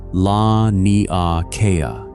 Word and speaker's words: Laniakea: They named it Laniakea, pronounced lah-nee-ah-KAY-ah, a Hawaiian word meaning something close to